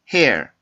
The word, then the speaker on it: hair: 자, 다시 한번 발음해 볼까요? hair, hair, hair, hair, hair, hair.